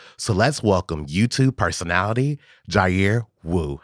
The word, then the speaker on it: Jair: It's pronounced Jair. It's actually Jair. I'm Mexican. So Jair is the proper pronunciation.